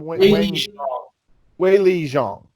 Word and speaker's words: Weili Zhang: Weili Zhang.